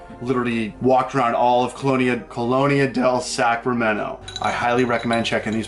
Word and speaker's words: Colonia del Sacramento: This is our last day in Colonia del Sacramento.